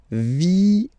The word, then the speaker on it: vienne: And the rule in French is that when you get this E and a double vowel after, you will have to pronounce this E like E, all right? So, vienne, vienne, vienne, vienne, okay?